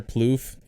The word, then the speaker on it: Plouffe: can't say yeah trevor plouffe yeah yep it spelled weird but proof he's a pitcher for